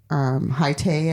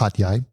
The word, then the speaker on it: Hat Yai: It goes into this little tiny airport, Hai Tay, I think it's called. In Hai Tay? And no, Hat Yai. I always say it wrong.